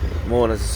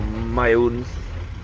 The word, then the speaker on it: Maun: So Moana's, or Maun, as it's pronounced, is about an hour's flight up from here.